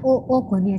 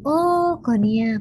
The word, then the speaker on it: oogonia: namanya oogonia jadi males bacanya oogonia jangan kau Nia bukannya oogonia nah ini jumlahnya sekitar